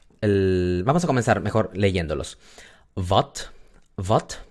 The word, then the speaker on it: wat: Wat es una A corta, muy bien, porque está entre la V y la T, y es una sola sílaba, no es va, ya, es wat.